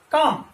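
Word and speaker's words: calm: इसी प्रकार सी ए एल एम, काम, यहां पर भी एल क्या है, साइलेंट है, और काम का मतलब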